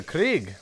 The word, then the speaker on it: Krieg: think i just realized i've been pronouncing craig wrong this entire time because you see the pack punch name of the weapon here the blitzkrieg i think it's named the krieg because it's german blitzkrieg so this is the